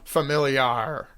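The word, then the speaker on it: Familiar: tell you it's a corona familiy are you know that's how you say it in Spanish max so okay Millie are and you know like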